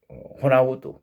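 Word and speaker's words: Ronaldo: 호나우도로라는 축구 선수 이름도 앞에가 R 발음이 영어로는 들어가는데 불구하고 묵음이 돼서 그냥 호나우도 이렇게 불리는 것처럼.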